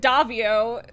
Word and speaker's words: Daviau: Hi, I'm Daviau, or as everyone pronounces it, Daviau, because, no, it's pasta.